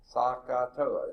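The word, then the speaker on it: SOHCAHTOA: Sakatoa, is that how you say it? Yes, sir. Yeah.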